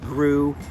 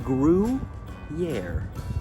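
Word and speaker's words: Gruyère: I believe the word you're looking for is Gruyere, pronounced Gruyere.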